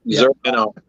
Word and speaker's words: Zur: And really, and I never know how to say the name of the demon or the alien that's possessing Batman, Zur or whatever it is. Zur, There you go.